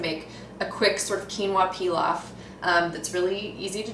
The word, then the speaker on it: quinoa: one of my favorite whole grains, which is quinoa. It's spelled Q-I-N-O-A.